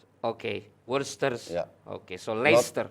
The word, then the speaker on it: Leicester: Leicester. Not Leicester. No, Leicester. So Leicester. You delete the C in the middle.